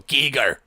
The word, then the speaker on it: Giger: That's what I usually say, but some people correct me and go, Giger. Well, it's like the Germans. Is that what it is? German. I'm pretty sure that's the actual German pronunciation of it. Is it?